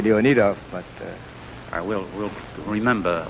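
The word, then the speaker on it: Leonidoff: think that would uh I really believe it should be leonov but uh we'll we'll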